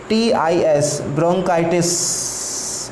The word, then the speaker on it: bronchitis: Second number हो जाएगा ब्रोंकाइटिस, BRONCHITIS, ब्रोंकाइटिस, इसका सही राइट प्रोनाउंसिएशन है ब्रोंकाइटिस।